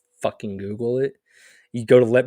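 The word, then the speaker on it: googol: one with 100 zeros pronounced Google okay well it does not look like Google but I can see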